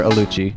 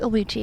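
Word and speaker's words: Oluchi: Will hi Will how are you and you're aluchi yes aluchi how spell that o l u c h i it'll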